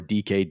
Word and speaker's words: Dike: You just said DK, it right.